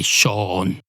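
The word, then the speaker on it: Seán: h n in fact a lot of Irish people say Shan and we don't spell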